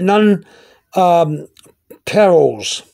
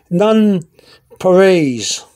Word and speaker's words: nonpareils: sugar-coated chocolate disc uh they pronounced it none perils okay i sometimes pronounce it none uh periels uh myself but i never heard people pronounce it the other way but yet i'm told that some people some people pronounce this guy this uh this candy none parades i guess they're trying to pronounce it french num none parades uh